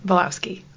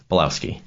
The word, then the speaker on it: Bielawski: how do you say your last name Bowski Bowski see I said it so good before I